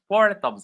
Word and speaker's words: thumb: Amin is giving us four thumbs up. Okay. So these are three words where the B is silent.